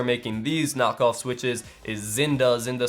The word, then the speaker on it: Xinda: these knockoff switches is Zinda spelled with a ZX, Zinda spelled with an X, like Xinda.